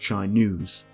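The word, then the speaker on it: Chai-Nuzz: man named renan and here's where I learned his name is actually pronounced chai news this is what happens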